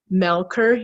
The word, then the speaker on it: Melcher: sizes podcast and YouTube channel I have Ciara melkor here's even though spelled Melcher er but it's pronounced Melkor he is a holistic transformational mentor